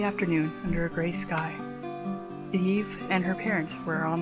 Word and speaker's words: Ib: hello and welcome to ib or eve due to uh it being a japanese pronunciation i am not going